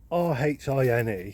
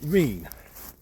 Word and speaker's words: rhine: Because, I mean, I've always been brought up pronouncing it Reen. I suppose as in R-E-E-N. That's how I've always pronounced it, and my family's pronounced it. I think everyone around here has pronounced it as Reen.